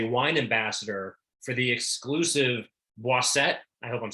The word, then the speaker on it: Boisset: And please pronounce it correctly if I mispronounce Boisset. Boisset.